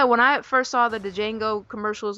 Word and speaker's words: Django: then he was like the django that but the d is silent so i was like